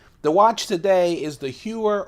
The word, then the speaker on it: Heuer: watch today is the heuer or Hoyer I know I've been called a Heuer for years people tell me it's Hoyer I'm gonna mispronounce it